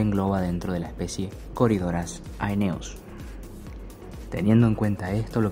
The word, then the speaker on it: Corydoras aeneus: la pronunciación correcta sería Corydoras aeneus, es decir que la AE sonarían como una E, quedando como Corydoras aeneus.